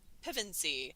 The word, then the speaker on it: Pevensie: My mother-in-law is from Wales, and she would say it Pevensey. Instead, I would say Pevensie or something and put the wrong emphasis on the incorrect syllable.